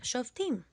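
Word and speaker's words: שופטים: book in Hebrew the Book of Judges is pronounced shim repeat it with me shim the shim or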